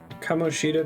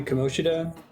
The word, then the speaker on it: Kamoshida: our seven mysteries wouldn't kamoshita be komoshida like if you put an emphasis on anything it's the second syllable so excuse